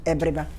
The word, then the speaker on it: Abiriba: I'd spell it as A, but pronunciation is E, Abiriba.